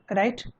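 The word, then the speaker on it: Ray: इसे आप राय भी पढ़ सकते हैं, आप मैं रे कह रहा हूं तो आप ऐसा नहीं कि रे ही कहेंगे। जनरली क्या होता है, सत्यजीत रे, ये जनरली प्रोनाउंसिएशन उपयुक्त है इसके लिए, इसलिए मैंने सत्यजीत रे कहा।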